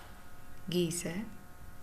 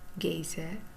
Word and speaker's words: geyser: i would love one the next word is geezer geiser or geiser you could pronounce it the way you want don't worry too much about pronunciation at this point what's a geizer or